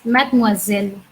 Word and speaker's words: mademoiselle: So now let's say mad, moi, zel.